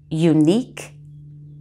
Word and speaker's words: unique: look at some words where q and u are together but the u does not make a w sound it's silent the q as always is just k but no w sound with it here's some words liquor